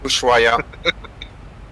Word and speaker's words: Ushuaia: Ushuaia.